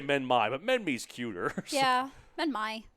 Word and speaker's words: Minmi: I've always pronounced it Minmi, but apparently it's Minmi.